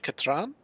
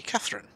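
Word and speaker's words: Katran: and fell in love with a villager named catran which atres kept on mispronouncing to be Catherine um and uh Catherine ended up being taught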